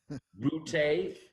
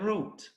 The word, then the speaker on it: Route: I get to the family reunion and found out there's 3 different pronunciations of the same last name. Route, Yeah. route, and root, depending on where you're from.